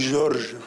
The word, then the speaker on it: Jorge: et comment est considéré Jorge Sampras aujourd'hui en Espagne? Jorge Semprún. Jorge Semprún Oui. Excusez-moi, j'ai dit Jorge, en général, on dit Georges.